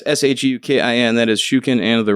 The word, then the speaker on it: Shukin: SHOOKEN. Wow. At least it was phonetically correct, but it's like, damn. So, but yeah, it's SHUKIN.